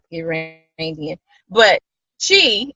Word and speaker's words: Zhi: But Chi, it's pronounced Chi. It's Z-H-I, but it's pronounced Chi, and that's Chinese for nature, wellness, and that kind of thing.